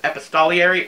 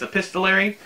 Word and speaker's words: epistolary: ever liked of this pistol Larry I think that's how you pronounce it Sarah help me for the longest time I called it Epis Tolly arey I don't know why but as they believe it's epistolary and the story is